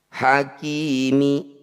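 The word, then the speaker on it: حكيم: dihentikan disebut bacaan madukun cara bacanya k panjangkan en harakat huruf terakhir sukunkan hakimi ketika dihentikan Hakim mudah-mudahan bisa dipahami kita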